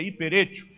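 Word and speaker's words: ὑπερέχω: Essa palavra, né, uperetio, pronuncia hiperetio, ela, na verdade, indica algo que realmente sobressai.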